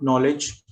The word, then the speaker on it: knowledge: K is silent when it comes before N in a few words like knee, knife, night, no, knowledge. Okay.